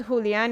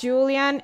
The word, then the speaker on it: Julian: and it's not and it's not Julian it's Julian it doesn't really bother me